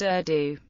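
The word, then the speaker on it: ordu: formed the military camp it was now pronounced urdu in all their campaigns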